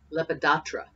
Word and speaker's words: Lepidoptera: order of leopard Edra let's see how you pronounce that that's a big word let's see here Lepidoptera that's a hard word alright so moth also